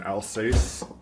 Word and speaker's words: Alsace: The other variety that I'm gonna make today of Saucisson is, I'm gonna butcher the pronunciation, Alsace.